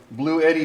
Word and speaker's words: Bluetti: gonna plug in my blue Eddie charger I was actually saying the name wrong blue Eddie not blue key mark apologies to Blue